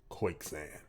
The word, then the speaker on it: Koyczan: This is Shane Koyczan. I feel like the C is silent. Koyczan. Koyczan. That's what it is.